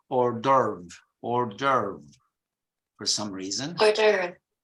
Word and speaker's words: hors d'oeuvre: this element is, okay, in British English, in this case, you follow more the French pronunciation. It's hors d'oeuvre, hors d'oeuvre. But in American English, they say it in a different way, and they even misspell it when they pronounce it because they put the R before the V.